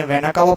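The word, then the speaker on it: vena cava: पर superior superior नाकवा मैंने वेना कावा पढ़ा है आप वेना केवा भी पढ़ सकते हैं जैसा प्रोनंसिएशन हो लेकिन स्पेलिंग मिस्टेक्स नहीं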